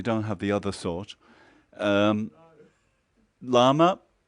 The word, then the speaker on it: lama: Lama, it's a female word. Lama, it's 2 syllables.